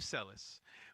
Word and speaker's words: Selis: We have Eve Selis.